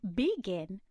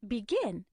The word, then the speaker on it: begin: For example, if I say begin, that doesn't sound as natural as begin. The stress is on the second syllable.